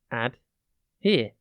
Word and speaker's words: adhere: here it is pronounced ad here and it is spelt a d h e r e think add and then here add here means to